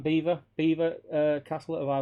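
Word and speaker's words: Belvoir: as I hate it bwise pronounced Beaver uh bloody stupid uh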